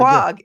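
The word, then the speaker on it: Quogue: It's Quag.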